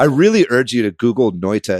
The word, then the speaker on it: Noita: about but i really urge you to google noita it's spelled n-o-i-t-a uh and it's it's only on